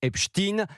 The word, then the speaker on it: Epstein: un élève de 5e, c'est qu'en anglais, Epstein se prononce Epstein. Les journalistes ne font donc que prononcer un nom américain à l'américaine.